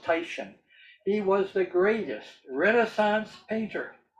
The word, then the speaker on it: Titian: all time, named Titian, spelled Titan, pronounced Titian.